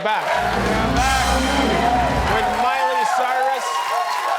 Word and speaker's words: Miley Cyrus: We're back with Miley Cyrus, which rhymes with papyrus.